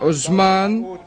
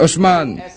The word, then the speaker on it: Hochmann: nom de ce man son nom n'est pas aux mannes mais hochmann et voilà pourquoi je